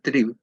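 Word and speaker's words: Trieb: Freud la transformó en la palabra trib que se pronuncia trib que significa pulsión si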